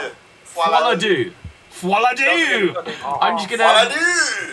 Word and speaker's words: Folie à Deux: How do you pronounce this? Joker Folie à Deux. Folie à Deux. Folie à Deux.